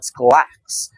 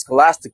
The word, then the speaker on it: scholastic: Ironically enough after he was trying to criticize my pronunciation he said skolax. um is scholastic by the way kiddo but yes I was